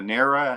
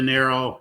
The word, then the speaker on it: Nero: the name of Nera. Is that how you say her name? Nero, yes.